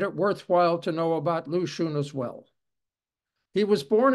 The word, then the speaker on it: Lu Xun: Lu Xun was his pen name. The X in the alphabetical spelling is pronounced like SH.